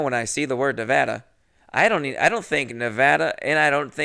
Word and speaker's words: Nevada: Also, if you say Nevada, you're saying it wrong. And no, what's even fucked up for me is now when I see the word Nevada, I don't think Nevada, and I don't think Nevada either.